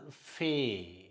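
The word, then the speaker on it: פ: இதற்கு இங்கே புள்ளி இருந்தால் பே, இங்கே புள்ளி இல்லாமல் இருந்தால் ஃபே. எஃப் அப்படிங்கிற மாதிரி உச்சரிக்கும்.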